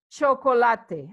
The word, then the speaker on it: chocolate: Chocolate is chocolate. As you can see, it's written the same, but as I've told you, in Spanish, we pronounce every single letter.